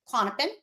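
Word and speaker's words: Klonopin: it how do you say it clonopin clonopin clonopin y which is so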